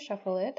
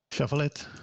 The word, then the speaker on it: Shuffle iT: so the company is called Shuffle Shuffle it shuffle it how do you actually pronounce it shuffle it shuffle it okay so so Shuffle it was